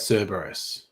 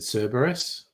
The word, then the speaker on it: Cerberus: I pronounce that Cerberus. I know there is arguments that I think it should be the C should be a K sound, but I'm just in so many media adaptations, people said Cerberus.